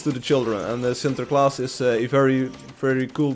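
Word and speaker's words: Sinterklaas: today spell it please so Center class is s-i-n-t-e-r Center s-i-n-t-e-r and then k-l-a-a-s class Center class like this sinter class see it on the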